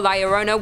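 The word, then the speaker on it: La Llorona: in and number two Larona hailing from Hispanic folklore Liona which I'm pronouncing correctly now after you guys yelled at me in a previous video is also known as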